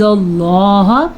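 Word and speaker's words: اللّٰه: نہیں ہوگا۔ لن نعجز اللہ، اللہ کا نام پر پڑھنا ہے کیونکہ اللہ کے نام سے پہلے زبر ہے۔ فی الارض، را پر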